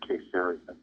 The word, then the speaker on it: Caesarea: family was staying with, they always said Caesarea. But most people pronounce it differently.